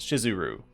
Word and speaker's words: Shizuru: that the name of the Goddess is actually spelled and pronounced shiz uru or that misspelling it